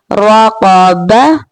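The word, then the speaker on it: رقبة: Now the pronunciation of 3 letters will become together raqaba, raqaba.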